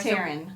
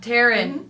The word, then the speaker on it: Taran: Taran. Taran. It looks like the way it's spelled and you can thank your parents for that.